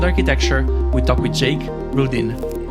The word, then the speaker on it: Rudin: we talk with Jake Rudin did I pronounce it right Jake very yes it's Ruden it's very close but um you know